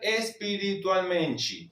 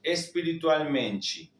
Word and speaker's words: espiritualmente: La t con la i se pronuncia chi. Entonces tenemos nos queremos crecer espiritualmenti. espiritualmenti.